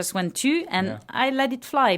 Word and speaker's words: tu: So does tu and vous, they don't rhyme? They do not rhyme.